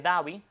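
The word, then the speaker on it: Abu Dabi: Abu Dhabi, S D H A B I Davi, las academas dicen, bueno, esa H ahí no tiene ningún sonido, vamos a eliminarla.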